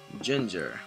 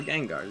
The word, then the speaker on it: Gengar: evolve about to use ginger or Gengar depending on your pronunciation probably going to go